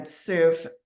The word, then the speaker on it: Soof: But today, again, Soof, that's SOOF as in Frank. And like she said, it rhymes with proof.